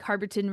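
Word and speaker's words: Harberton: And so I booked a trip with them, and they take you by bus to this place, like Harborton Ranch is how you say it in English, Estancia Harborton.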